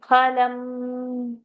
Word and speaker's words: फलम्: is there उभयोर्विन्दते फलम् so f is not there in Sanskrit f pronunciation is not there th is there because it's oshtha p th th उभयोर्विन्दते फलम् उभयोर्विन्दते फलम्